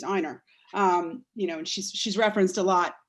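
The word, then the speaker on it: Ina: of New York, and his wife's name is spelled I-N-A, and she's Einer.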